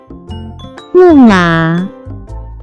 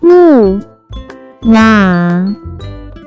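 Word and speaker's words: 木马: can be pronounced as 木马，木马，木马。 Let's break down it to understand it even more. It has 2 characters, pronounced with 4th and 3rd tone.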